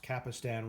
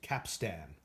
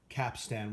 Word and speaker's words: capstan: realistic SCT 3100 that I pronounced capistan wrong I've always pronounced it with the I but I suppose that The Godly pronunciation of that is capstan capstan without the eye and certainly not the